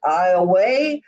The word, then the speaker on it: Iowa: In Division 2, Iowa, it's a long A, Iowa defeated North DeSoto 50-43.